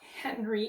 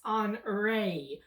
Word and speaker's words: Henri: about hurricane anari so even though it's spelled h-e-n-r-i it's not henry it's on rey or on reed basically so a little bit different than henry nevertheless it is over